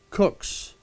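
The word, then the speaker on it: Coke: And I've seen Lord Justice Cook's, spelled C-O-K-E, but pronounced Cook, his own code of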